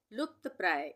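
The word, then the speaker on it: लुप्तप्राय: लुप्त प्राय इसमें भी लुप्त प्राय। यहां पे भी आधे प का उच्चारण हो रहा है और यह त पूरा है।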